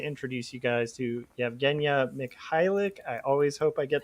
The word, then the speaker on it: Mikhailik: So I wanted to introduce you guys to Yevgeniya Mikhailik. I always hope I get that name right. Did I? For the last Mikhailik, yeah, the K is silent.